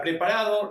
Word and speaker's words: preparado: O sea, está preparado para administrar el único detalle que tenemos en esta oración, en la palabra preparado, recordar que la o final se pronuncia como una u.